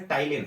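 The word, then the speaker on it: ptyalin: तो ध्यान में रखो, जैसे टाइलिन है, पी साइलेंट है, समझ गए।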